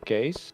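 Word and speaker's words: Cees: nickname of his father which is case which is a fairly Dutch name okay with BTC so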